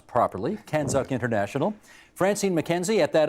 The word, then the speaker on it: CANZUK: chief executive of canzuk which I will now pronounce properly canzuk International Francine McKenzie at that other London London